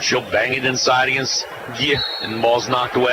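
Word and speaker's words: Geuye: It's G-E-U-Y-E, and it's just pronounced Gia.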